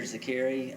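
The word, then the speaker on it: Zeqiri: My name is Zakiri.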